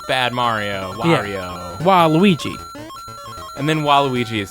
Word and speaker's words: Wario: I think it's pronounced Wario Kyle um no yep that's why he's so angry it's it's like Mario with a W so it's like Wario no I'm pretty sure